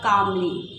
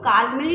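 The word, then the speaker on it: calmly: Word the mother word कामली, यहाँ पे L silent है तो काल्मली नहीं पढ़ा जाएगा, कामली पढ़ा जाएगा, रिप्लाइड उत्तर देती है।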